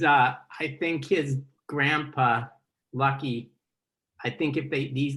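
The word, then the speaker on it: Luckey: what is is it his actual name yeah lucky yeah that's amazing I see all that I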